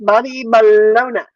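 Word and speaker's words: bologna: Um, so it's YouTube.comby-baloney0451 and you know bologoney is b o l og g n a. We know it's an a at the end but we pronounce it with an i or an e or depends on how you want to say it but it's balona.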